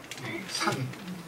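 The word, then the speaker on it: 祘: 우리가 산. 근데 저 산자는 이제 형으로도 발음이 됩니다. 그래서 형 하면은 요즘은 이제 그걸 단모음으로 처리해서 성이라고 할 수 있죠. 그래서 산이라고 할 수도 있고 성이라고도 할 수 있습니다.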